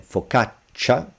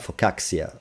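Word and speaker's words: focaccia: It's a stronger ch I cannot express it at the beginning of a of a word because you cannot start with two consonant two C's in Italian but again faukatcha it's not faxia or anything like accident it's just cha but stronger faua sorry for insisting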